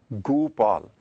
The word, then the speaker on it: Gopal: But here, Guru Maharaj has intentionally put Onkar underneath Gagga. So pronunciation is Gopal.